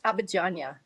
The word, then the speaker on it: Abadiânia: This is Abadiânia, right, in Brazil. Did I pronounce that right? Close. Abadiânia. Abadiânia. I can't say it. Perfect. Perfect. This is my American pronunciation.